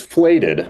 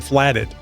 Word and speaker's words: Flated: It is Flated. Flated. There we go. Flated, which makes more sense than flatted.